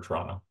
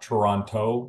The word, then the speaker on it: Toronto: a lunchbox Community for Toronto yeah okay and just as an FYI it's not Toronto it's Toronto there's only one t in Toronto Sal with two but you only pronounce one yeah interested and so